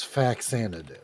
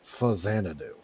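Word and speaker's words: Faxanadu: name but most people refer to it as fax do but it it's actually the name is a portmanto of famicom and zanadu so it's actually pronounced fanu but it's basically a refinement on the formula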